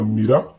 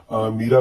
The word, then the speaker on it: मीरा: थी, इस प्रकार से, तो यदि हम इसका उच्चारण छोटी की मात्रा में करेंगे, छोटी की मात्रा में करते हैं तो ये इस प्रकार से हो जाएगा, मीरा कृष्ण की दीवानी थी। तो मीरा बोलने से ही यहाँ पर आपको अटपटा लग